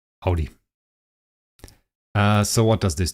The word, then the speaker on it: Audi: could park everywhere um Germans Audi that's the way it's pronounced Audi uh so what does